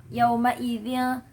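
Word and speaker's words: يَوْمَئِذٍ: Selanjutnya untuk penjelasan tajwid pada ayat keempat yaitu yauma idzin. Nah, ya, ketika pengucapan huruf yaw atau waw sukun sebelumnya harokatnya fathah itu adalah madlin. Jadi dibaca 2 harokat yaw gitu.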